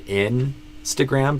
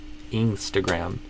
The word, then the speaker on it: Instagram: And that's where it should be an I sound, but you did E. So like I would say Instagram, but you did Instagram.